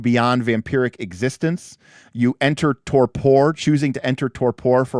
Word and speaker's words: Torpor: Torpor. Yeah, the Google Translate or Google pronunciation agrees. Torpor.